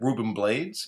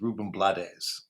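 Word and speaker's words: Rubén Blades: So the next one is usually said Ruben Blades, but I think the actual pronunciation is Ruben Blades.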